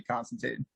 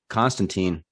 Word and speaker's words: Constantine: Constantine, also 3 syllables.